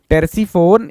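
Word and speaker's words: Terpsiphone: easily याद हो जाएगा टेर्स फोन इसमें पी साइलेंट है टेर्स फोन पैराडाइस तो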